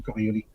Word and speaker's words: Coriolis: They had it set for correction for the Coriolis effect. I always use the French pronunciation, Coriolis.